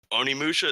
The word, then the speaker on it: Onimusha: Another one being, and I'm gonna butcher this one, Onimusha.